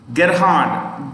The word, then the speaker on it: Gerhard: dallas is secretary general now write the president gerhard g e r h a r d g